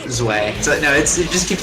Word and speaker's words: Zwei: Gets the Zwoo, or the Zway, as I've been told it's not. Zwei.